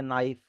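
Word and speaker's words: knife: बहुत जगह आपने इंग्लिश में भी देखा होगा बहुत सारे कुछ अब एग्जांपल के तौर पे नाइफ। नाइफ में के आता है शुरुआत में लेकिन बोला नहीं जाता।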